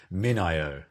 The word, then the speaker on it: MinIO: of and we did just discuss how to pronounce a company name and it's gone completely out of my head already minio that's right got it good so just first